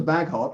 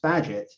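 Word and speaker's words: Bagehot: i found out about water baghot although it's actually pronounced badget um would recommend and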